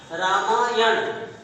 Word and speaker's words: रामायण: रामायण, ये दंतना है, इसका उच्चारण राम जोड़ आयन। यहाँ पर यह ध्यान देना है, ये मूर्धन्त न है। यहाँ दंत न है तो ये मूर्धन्त न है, ये भी ध्यान रखना है।